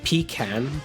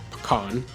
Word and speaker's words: Pecan: Codename Pecan, or Pecan, however you want to pronounce it.